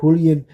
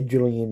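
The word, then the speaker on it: Julián: His name starts with a J, and I know a lot of people are going to say Julian. It's Julian if you pronounce it with an H. It's Julian Castro that begins with a J.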